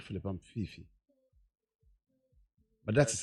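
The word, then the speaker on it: Phiiphi: check my name well it's p h double i p h i which is fifi but you know me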